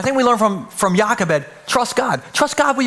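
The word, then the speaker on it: Jochebed: Took me all week to pronounce Yakabed. It starts with a J. Some of you are like, "Is that a hard J? How does that work?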